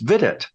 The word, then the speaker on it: Vidit: I certainly didn't know how to pronounce it until his daughter said, oh, it sounds like visit. So then the name is pronounced vidit, just making it sound like something else.